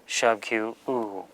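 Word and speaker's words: དབུ: Instance number 2, da before ba, when the ba has a yata, which is a subscribed ya, or a vowel sign, the ba is rendered silent. The da is silent because it's a prefix, then the ba is made silent. So they're both silent, and we just pronounce what is left. In this instance, what is left is merely the shabkyu, u.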